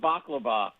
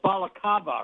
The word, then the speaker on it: balaclava: I'm going to call it a baklava, which is not what it is. A baklava is a delicious little dessert treat, right? That's what baklava is. It's like baked candy or something. But it's the balaclava or something. He pronounced it right. But I have 3 of those, Rod.